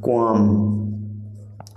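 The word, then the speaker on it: qualm: बेचैनी का मतलब है क्वाम। क्वाम, तो आपका क्वाम में जो साइलेंट लेटर है वो है एल।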